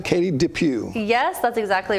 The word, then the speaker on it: Katie DePew: Am I pronouncing that right? Katie DePew.